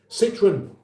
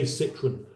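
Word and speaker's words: Citroën: Citroen, that's how we say Citroen, not Citroen. Citroen. Unless you're doing a French accent, it doesn't work at all. Citroen.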